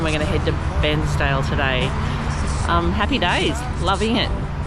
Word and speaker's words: Bairnsdale: Did you say Barnsdale? No, I said Bairnsdale. I've been saying it wrong, Barnsdale. Greg grew up at Bairnsdale, so I get in trouble if I say Barnsdale.